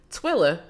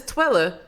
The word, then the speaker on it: Twilla: her sister she says twiller and i'm like yes it's twilla but everybody says twiller wait say you guys you gotta say yes i lla but most people would just say twilla wait wait wait wait